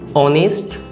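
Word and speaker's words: honest: এরপরে আরেকটা যদি দেখি, অনেস্ট ম্যান, দেখুন এটারও উচ্চারণ অ দিয়ে, এর উচ্চারণ মানে ওয়ার্ডটা যদি এইচ দিয়ে শুরু হয় হলেও এর উচ্চারণ কিন্তু অ দিয়ে, তাই এটার আগেও অ্যান বসবে।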